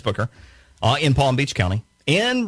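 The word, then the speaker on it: Bucher: Susan Booker, sometimes called Butcher because people didn't know how to pronounce her name nationally, but it's Booker, in Palm Beach County, and Brenda Snipes in Broward County.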